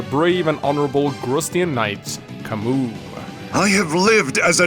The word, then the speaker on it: Camus: it's supposed to be Camus but in reality the name is French and the proper pronunciation is Camus can we in addition